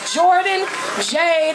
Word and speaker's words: Jourdan Jade: Hey, my name is Jourdan Jade out of Vallejo, California. It's spelled J-O-U-R-D-A-N-J-A-D-E.